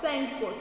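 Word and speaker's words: Tsangpo: It starts in the Tibet where it is called सेंगपो. टी इज the silent letter.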